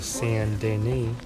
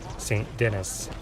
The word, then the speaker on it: Saint Denis: I used to call this town, this biggest town in Red Dead Redemption 2, Saint Denis, like a typical know-it-all American. That was sarcasm there, but it's pronounced Saint Denis.